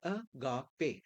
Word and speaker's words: agape: तो ये ग्रीक में ऐसे लिखा जाता है और इसका प्रोनाउंसिएशन है अगापे।